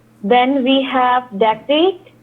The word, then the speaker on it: dactylic: Then we have dactylic. It is DAC, dactylic. DACTYLIC. Dactylic.